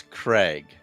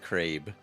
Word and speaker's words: Craig: I feel like this it's Craig not crabe oh Craig sorry Craig